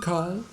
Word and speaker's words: Carl: I've just seen Carl talking with Mark. I've just, not just, but just seen with a long E sound. Carl, the ra, this little ra is not pronounced.